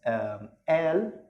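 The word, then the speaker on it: قال: And the next one is al. Here the qaf, actually in the Egyptian dialect, it's not pronounced like qaf in standard Arabic, but it's pronounced like al.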